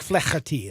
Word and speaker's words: Flaherty: Jack Flaherty. That's how you say it. Okay. I'll take your word for it. That's the correct way to say it.